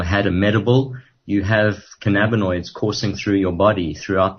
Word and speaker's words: cannabinoid: the using they can cannabinoid is that how you say it which is a molecule okay uh well yes principally that that's the